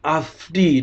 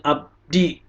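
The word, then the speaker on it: עבדי: belum mengerti ya dagingnya dia bacanya Abdi udah salah tadi dibilang Mbak Siska juga salah pengucapannya harusnya afdi lalu at mappu Harusnya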